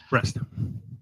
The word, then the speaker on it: Brest: Excuse me. Breast. Breast is a breast like boobies. Okay, that's spelled that way.